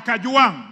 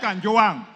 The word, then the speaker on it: Kajwang: Speaker, first of all, pronounce my name properly. I'm not Gachechwa. I am Kajwang, not Kanjwang.